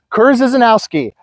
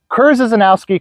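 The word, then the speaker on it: Krzyżanowski: is going to be the Brigade of Vladimir kurz zanowski I said it right Mark that in the comments guys I said kurz zanowski correct I'm going to say it right every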